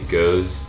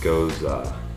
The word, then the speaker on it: Gose: A lot of people say Gose, G-O-S-E, but it's actually pronounced Goza.